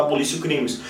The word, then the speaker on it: abolitio criminis: O que está na cabeça do artigo 2º é algo chamado de abolitio criminis, ou abolitio criminis, como é escrito realmente, mas na pronúncia a gente fala abolitio criminis, que nada mais é que a supressão do crime.